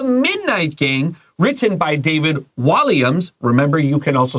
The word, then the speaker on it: Walliams: The Midnight Gang, written by David Walliams. Remember, you can also say Walliams.